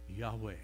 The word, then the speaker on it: Yahweh: h those four capital letters that's the name pronounced Yahweh okay later in the Old Testament it will